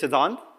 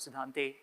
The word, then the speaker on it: Siddhante: note over here so my name's got an e at the end but that e is silent so it's not Sante it's sidhant so I'm a I'm